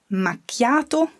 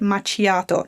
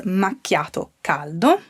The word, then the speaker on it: macchiato: as a standard coffee be careful to pronounce it's a hard key sound okay i don't want to hear people call it machiato no no no no